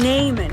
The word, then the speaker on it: Naaman: story today, we're talking about a man named Naaman. Can you say that? Naaman. And the way that it's spelled, it's kind of funny.